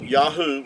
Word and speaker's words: Yahu: Uh Yahoo would give you the sound. Um these three letters here the ye the yod yad and the he and the ua would give you yahoo and uh even Benjamin